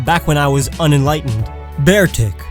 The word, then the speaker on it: Beartic: Beartic. It's a bear, so why would you pronounce it Beartic?